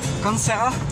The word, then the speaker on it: Kansera: Cancera. C'est ça, je prononce bien ou je dis un autre mot là?